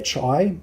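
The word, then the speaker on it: Qi: as it's known essay it's pronounced chi but when you see it written in the literature it'll be q-i and q-i is actually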